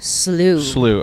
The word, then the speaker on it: Beal Slough: Beal Slough? Slough.